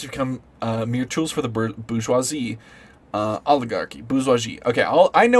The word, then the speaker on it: bourgeoisie: Bourgeoisie, so that's how it's pronounced. Bourgeoisie. I always said bourgeoisie. Bourgeoisie? How come no one ever corrected me? It's bourgeoisie. Bourgeoisie.